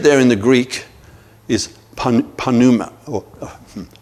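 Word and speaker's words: pneuma: word for spirit there in the Greek is Panama or pronounced Numa but it was a is a P right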